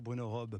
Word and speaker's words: Robbes: Bonjour Bruno Robe, pardon Bonjour. pour la prononciation tout à l'heure, j'ai rajouté un S qui était tout à fait malvenu.